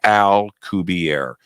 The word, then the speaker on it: Alcubierre: Alcubierre, and it's spelled just like you think.